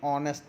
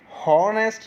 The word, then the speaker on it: honest: जैसे वी से एन ऑनेस्ट मैन। अब देखिए यहाँ पर HONEST, इसको जब हम रीड करेंगे तो बोलेंगे ऑनेस्ट, हॉनेस्ट नहीं बोलेंगे। इसमें एच साइलेंट रहता है, इसलिए हम इसको ऑनेस्ट बोलते हैं।